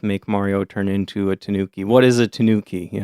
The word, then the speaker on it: Tanuki: And today our topic is the Tanuki, aka the Japanese raccoon dog. So this word is pronounced Tanuki in Japanese, but we're going to pronounce it Tanuki because we're Americans. And that's how Americans pronounce it.